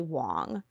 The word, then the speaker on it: Wang: But the correct pronunciation in Mandarin is actually Wang. He asked his mom what she preferred, and then when he presented this movie for the first time, he said Wang, and he's never gone back since.